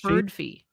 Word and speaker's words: Birdfy: I would say Birdfy because of Spotify. You would think, but yeah, no, but they said it's Birdfy.